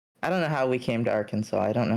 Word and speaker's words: Arkansas: And he was like, that's how you say it. That's It's Arkansas. And we're like, "What? Really? I had no idea." Kansas. Yeah. I thought it was our Kansas.